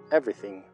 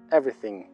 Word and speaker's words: everything: esa versión Ok Every Everything Everything Observa que no pronunciamos la segunda e de la palabra Everything everything Everything la segunda